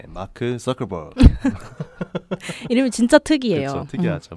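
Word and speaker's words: Zuckerberg: 네, 마크 서커버그. 이름이 진짜 특이해요. 그렇죠, 특이하죠. 마크 서커버그인데 제트 발음 잘하시네요.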